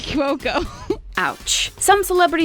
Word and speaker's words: Cuoco: name always have it hard especially when it's pronounced wrong kaylee kwokumoki cuoco ouch some celebrity names are so easy to